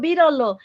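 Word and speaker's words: बिरालो: And you'll be interested in this, Nash, is the word for cat in Nepali is biralo, like 3 syllables, biralo.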